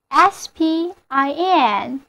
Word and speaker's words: spin: rotate 有一个近义词，我们在这里就顺便认识一下，就是 spin， S-P-I-N。注意，因为在 S 辅音之后，辅音 P 要失去爆破，发与它相对应的浊辅音 B，所以单词就念作 spin。